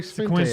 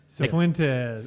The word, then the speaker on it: Cifuentes: Oh yeah, Joey Sequences. Fuentes. Yeah. Wait, who said that wrong? Who said it right? Is it Sequentes? No, there's no Q in it. Cifuentes. There's an F in it. Cifuentes.